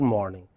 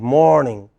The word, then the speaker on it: morning: You see, it is always the first part of the word morning. The first syllable in the word morning which is stressed, so it is not good morning, it is good morning.